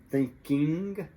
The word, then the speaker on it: thinking: make the G disappear, the I really, usually almost always becomes a short I that doesn't exactly exist in Portuguese. The I sound is in it's big. So, thinking, thinking, thinking, thinking.